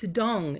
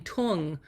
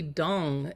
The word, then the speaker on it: Tung: to bring out oh the name dong it's dong um and I I knew this would happen